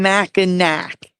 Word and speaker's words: Mackinac: So there's a sign, a physical sign that says Mackinac Bridge and Museum in Mackinac, which is pronounced Mackinac, but spelled Mackinac.